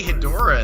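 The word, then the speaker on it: Hedorah: I pronounce it. Hydra. Well, they say Hedora in the movie, or Hedora, Yeah, or whatever, I right?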